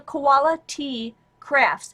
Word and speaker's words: Koala T Crafts: got in there and it's uh koala as the bear KOA capital T crafts c r a f TS so koala T crafts it sounds like quality but that's how it's